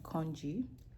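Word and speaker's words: congee: To show you guys my new um hyperfixation, kongji is spelled C O N G E and it is it is a Chinese rice porridge.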